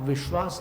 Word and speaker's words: विश्वास: आप विश्वास नहीं बोल रहे हैं, विश्वास बोल रहे हैं। तो विश ये जो बोला ना आपने, इसको स्वराघात कहते हैं। तो स्वराघात करने में 2 मात्रा हो गई।